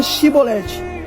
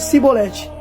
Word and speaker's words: chibolete: de liade lhe dizia Então diga chibolete se eles dissessem sibolete não podendo pronunciar corretamente os homens agarravam e o matavam então percebe se ele Trocasse o X pelo S não sabendo pronunciar a